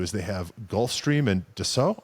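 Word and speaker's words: Dassault: they have Gulfstream and doo I think is how it's pronounced um I was calling it dot until I was corrected Doo yeah and uh so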